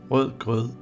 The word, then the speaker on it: rødgrød: The sentence is pronounced Rødgrød med fløde.